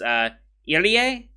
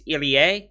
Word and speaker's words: Irie: his other name is Irie. Am I saying that right? I did get a pronunciation lesson from Rex, and I think I'm saying that right. It's Irie, not Iri. It's Irie, I believe.